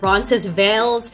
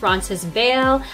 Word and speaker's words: Roncesvalles: Ask half of the locals and they'll call it Roncesvalles. The other half will argue that the last S is silent, Roncesvalles.